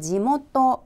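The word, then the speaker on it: 地元: 또한 발음 을 살펴보면 " 흙 " 을 뜻 하는 한자는 보통 " 치 ( 氣 )" 입니다 . 그게 기본 입니다 . 하지만 여기서 는 " 지 " 라는 예외로 읽힙니다 . 그리고 그 뒤 에는 " 기원 " 을 뜻 하는 한자가 나오는데 , 이는 중국식 일본어 발음 이 아니라 고유 발음 대로 읽습니다 . 그러므로 이 두 단어 를 합치면 " 지모토 " 가 된다는 점 을 꼭 기억 해 두셔야 합니다 .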